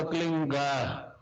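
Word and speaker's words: क्लीं: की मात्रा और बिंदी, उसका उच्चारण होगा क्लीन गा। गा की ध्वनि निकलेगी पीछे।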